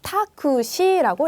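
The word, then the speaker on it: タクシー: 그래서 택시 같은 경우에는 이제 가간나로 택시라는 말이 없어요. 그래서 가장 가까운 말로 타쿠시라고 했습니다.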